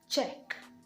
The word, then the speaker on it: Czech: absolutely silent in scenario the letter c is also silent when it comes before the letter z and words like check how else would you have been able to pronounce a word like this except you omit the c or you totally give it an entirely new sound like it is here given the sound check czech is a country